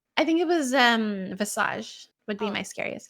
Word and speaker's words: Visage: although Visage, is that how you pronounce it?